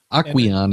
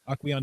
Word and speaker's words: Aquion: Aquion Aquion is how I would pronounce that. Aquion Energy has eaten parts of the saltwater-based battery and lived to tell the tale.